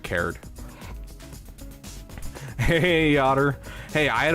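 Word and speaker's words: Karrde: Wars he loves uh Talon card cared I think is how you pronounce it is it card or cared I've always heard it cared hey otter hey I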